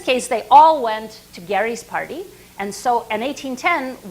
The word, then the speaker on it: Gerry: So Elbridge Gerry, he was Gerry, not Jerry. Somewhere along the line, the pronunciation changed. But Elbridge Gerry was the governor of Massachusetts in 1810.